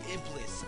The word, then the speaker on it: Iblis: You are gonna be Iblis. Since Iblis never got a chance. That's how you say it, Iblis.